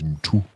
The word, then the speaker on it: Mtu: My name is Mtu.